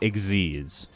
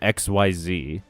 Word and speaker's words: Xyz: as one thing, like Xyz, you know? And we all called them XYZ for a while, but they're pronounced Xyz.